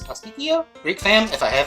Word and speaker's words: pastitsio: I know you guys might think this is a little daunting, but this is something called a pastitsio. I think the correct pronunciation is pasticcio.